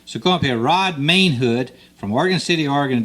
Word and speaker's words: Mainhood: And right now I got Rod Mainhood, M-A-I-N, Mainhood.